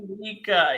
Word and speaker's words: Dominica: Dominica.